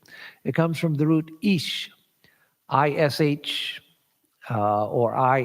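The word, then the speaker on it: ईश्: comes from the root ish ish uh or i s with an accent over it uh uh for the technical transliteration and that would be a long i pronounced as e so e law dergah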